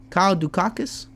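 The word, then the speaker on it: Kyle Daukaus: Kyle Dukakis.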